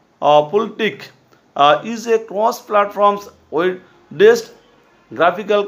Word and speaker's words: FLTK: The FastLight toolkit is pronounced the Pultic, is a cross-platform web-based